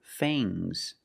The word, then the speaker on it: fangs: Use a long A plus the nasal sound and a soft G. Fangs. Fangs. And the S is making a zebra sound, Z, but it's soft.